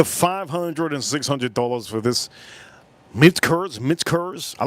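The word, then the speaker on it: Michter's: and $600 for this Mitch Kurz. I like to say it like that. Mitch Kurz. I put a K where the K is not supposed to. There's no K in here.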